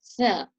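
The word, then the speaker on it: ث: So for the letter Tha, the tongue is placed between the teeth, touching the upper teeth, but you have to leave a small opening so that you can force the air through. So in English, it would be like the example, thumb, thirst, or thing.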